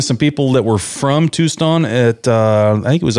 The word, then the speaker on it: Tucson: Tucson.